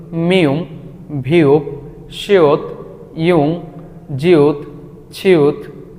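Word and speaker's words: 치읓: এটাকে কোরিয়ানরা বলে ছিউত। ছিউত, এটার মূল উচ্চারণ ছ।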